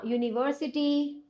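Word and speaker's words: university: क्यों इसका देखो क्योंकि इसका जो प्रोनाउंसिएशन होता है जैसे आप जब बोलते हो यूनिवर्सिटी क्या बोलते हो आप यूनिवर्सिटी यू बोलते हैं ना तो यू का बेसिकली होता है वाई यू क्या बोलते हैं वाई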